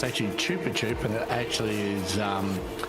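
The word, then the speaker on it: Chupa Chups: on your sponsor it's not and most people pronounce it Chapa chap it's not it's actually Chupa chup and it actually is um Spanish for sucky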